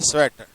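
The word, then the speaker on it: Tswett: chromatography वास invented bye स्वेट scientist स्वेट T silent letter स्वेट टी एस डब् ई टीटी स्वेट okay boat निस्ट ही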